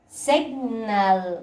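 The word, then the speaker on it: signal: سيجنال.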